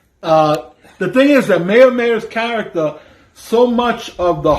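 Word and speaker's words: Meyer Meyer: dynamic is perfect and i keep saying mayor mayor because that's actually his name mayor mayor yeah it's yeah it's spelled m-e-y-e-r-m-e-y-e-r so his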